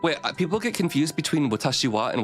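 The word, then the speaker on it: 私は: people get confused between watashiwa and watashiha oh so when you're learning Japanese the way you pronounce It is watashiwa, but it's actually written watashiha, but it's because that ha is a particle, and that's the way you say it.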